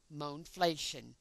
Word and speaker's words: mohnflation: For clarity, this kind of inflation should be termed mohnflation, as in money inflation, with a pronunciation of mohnflation.